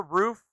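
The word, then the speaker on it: RUF: ] roof literally and it's not pronounced rough it's pronounced roof and rgt btr3 btr2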